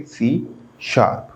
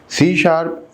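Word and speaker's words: C#: सकते हैं next students सी इट is pronounce ए सी शप यानी कि हैशटैग को हैशटैग नहीं पढ़ेंगे हम क्या पढ़ेंगे सी शार्प सी शार्प इज a multi paradigm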